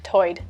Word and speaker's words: tide: One interesting feature is that Lumbee English speakers share vowel sounds present in the Outer Banks accent, where tide is pronounced toid.